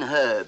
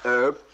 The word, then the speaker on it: herb: and los angeles california do you drop the h in your part of america i said in herb do you pronounce it herb yeah would you say